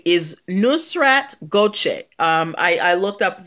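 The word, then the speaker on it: Nusrat Gökçe: until yesterday um salt bae's real name is nusrat gochek um i i looked up the the the i googled the pronunciation to make sure that i got it right nusrat gauche 76 gram k nusrat goje but um that's that but you got the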